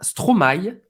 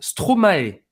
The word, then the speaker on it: Stromae: Stromae, você pode pronunciar Stromae ou Stromae. Até o artista falou que tanto faz, tá bom?